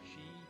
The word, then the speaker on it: Qi: Pronounced Chi.